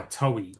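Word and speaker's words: Toei: There's another one here called Out There by by Towi. I'm pronouncing it towi. It's T O EI. So that sounds sounds towi, right?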